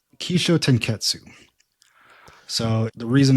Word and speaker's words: Kishotenketsu: in Japan Korea um the pronunciation I just used is the Japanese version that's key Sho ke